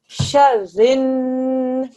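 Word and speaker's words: شر: Sharin, 2 seconds. Shar, this has to be joined together, press down on the ra. And then ra and the noon join, press down on the noon for 2 seconds.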